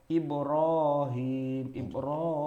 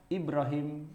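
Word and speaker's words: إبراهيم: Ya, Ibrahim itu tidak, walaupun kita bacanya tetap Ibrahim, panjang kan? Tapi alifnya itu nggak ada.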